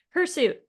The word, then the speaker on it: hirsute: because it sounds like two words that it is not her suit her suit h i r s u t and is one word and it means hay